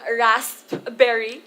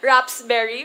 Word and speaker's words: raspberry: me lol is that i mispronounce the word raspberry which is supposedly a wrap uh i mispronounced it rather raps berry which is supposed to be raspberry so um from that